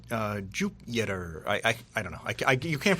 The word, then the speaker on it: Jupyter: And to Jupyter is spelled with a Y. Yes, correct. It's like Jupyter.